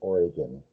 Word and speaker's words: Oregon: But, here here you you pronounce it Oregon. Oregon. Just just so you know.